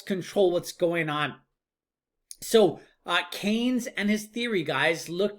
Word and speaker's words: Keynes: I don't get it his name is John Maynard Keynes not convenes or something weird so it's Keynesian economics